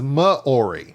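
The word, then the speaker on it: Māori: aroa is the native and he fanatically says moori I always thought it was mayori Mori poic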